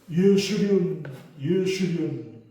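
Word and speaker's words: 여수룬: 26절 여수른이요. 여수른이 무슨 뜻이야? 원어에 가깝게 발음을 하면 예수륜. 그래서 제가 설교 준비하다가 우리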